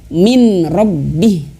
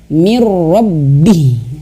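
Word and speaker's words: مِن رَّبِّهِ: ro dan tanpa dengung jangan sampai bacanya atau bahasanya Min robbih salah tapi cara yang benar adalah mirrobbi masuk ke huruf ro dan tanpa bengu seperti itu baik mudah-mudahan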